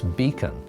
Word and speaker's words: BCAN: Early on in the organization, a lot of people pronounced it Beac. And what Diane and others drilled into them constantly was, "No, it's Beacon. It's a beacon out into the darkness of this disease.